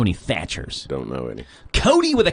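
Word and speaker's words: Kody: Cody with a K. Now I know Cody's with a K before for a boy's name. Well, I've K-O-D-Y, Cody.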